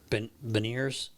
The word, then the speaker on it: Beniers: And Hack brought up, how do you say his name, Baller? Sorry, Beniers.